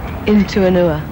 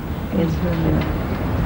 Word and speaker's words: In Tua Nua: And how do you pronounce it? In Tua Nua. In Tua Nua.